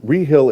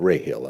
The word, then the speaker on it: Rehill: this clear before but rehill is spelled r-e-h-i-l-l am i correct yes okay and we pronounce it re-hill not ray hill am i correct that correct very good